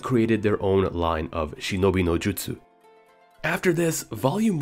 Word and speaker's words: shinobi no jutsu: Once again, in terms of terminology, the correct way to say the famous word ninjutsu is actually shinobi no jutsu, and this manual is